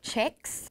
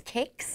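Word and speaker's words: kex: Some weird people say checks. That's not how you say it. It's a weird accent in Swedish, and don't trust these people that say that because it's kicks. You can see the K.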